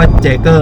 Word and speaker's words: Jer: มย jer มอส 6 อ่าน ว่า เกอร นะ ไม่ ใช่ จอร์ ด้วย นะ ออ เออ เรา ก็ ออก เสียง เป็น จอร์ วะ jer Warm 6 สี